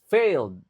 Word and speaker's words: failed: communication i would have failed in teamwk ini lagi-lagi ed-nya enggak dibaca failed cuma ditekankan at presentations are training